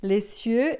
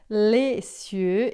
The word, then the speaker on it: les cieux: Ele criou os céus e a terra, les cieux e la terra, tá? Esse l aqui você vai pronunciar bem lê. O s você não vai dizer e daí esse sie vai ficar bem fechadão.